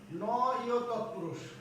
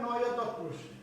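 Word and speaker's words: নঞ্ তৎপুরুষ: Number 2 হচ্ছে নয় তৎপুরুষ। অনেকেই নঞ্চ বলে না, এটা উচ্চারণ হবে নয় তৎপুরুষ।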